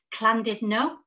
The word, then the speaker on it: Llandudno: We've got one in Wales, and I have to say this right because I always say it wrong, Llandudno.